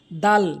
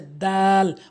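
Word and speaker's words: د: দাল ভুল উচ্চারণ। সঠিক উচ্চারণ হচ্ছে দাল। অর্থাৎ জিহ্বার আগাটে নিয়ে সামনে দুইটি দাঁতের গোড়াতে লাগাবেন।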